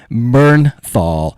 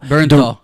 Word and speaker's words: Bernthal: Oh, John Mththal. Bernthal. He's fantastic. He is director Ronaldo Marcus Green. Have you guys ever What a great middle name. Uh Bernthal.